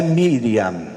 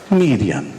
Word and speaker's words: Miriam: Mas como é que é a pronúncia Maria em hebraico? É Miriam. Miriam.